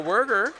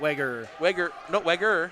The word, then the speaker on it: Weger: As Laura Werger will check in. Yep, Weger. I got corrected. It's only one. It's only one error.